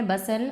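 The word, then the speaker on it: bustle: का हमारा वर्ड है बसल और इसे हम प्रोनंसिएशन हम इसका है सही बसल हम टी साइलेंट है इसमें बसल बोलेंगे इसको यह पार्ट ऑफ पज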